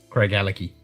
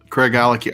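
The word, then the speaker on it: Craigellachie: 23y year for 200 think of CRA Craig and his Ellen key like Glenn and his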